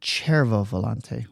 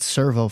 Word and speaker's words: Cervo Volante: And I have to point out that when we talked to Rolf Studer, he pronounced it Cervo Volante. Cervo. I've said servo forever, so I don't know if he was right or wrong.